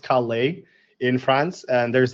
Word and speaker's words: Calais: I've never been to, I think it's pronounced Calais in France, and there's like a very big aquarium.